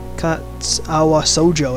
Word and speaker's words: Katawa Shoujo: will be playing Kata SoJO whatever the H you say it Kat AWA SoJO that's how you say it this is a